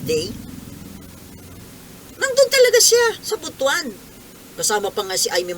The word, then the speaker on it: Butuan: ha Kayo po ang ang pronunciation po ng butwan eh hindi Butuan butwan gastos Butuan Butuan po